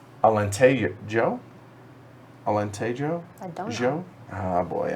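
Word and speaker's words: Alentejo: away good call oh in portuguese you pronounce the js alente joe alente joe joe oh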